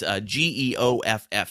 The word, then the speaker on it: Geoff: And Geoff is Geoff. He's got that crazy spelling of Geoff on there.